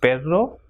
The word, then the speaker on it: perro: If two R's, that is doble R, comes together, it will pronounce as R. So, perro or correr.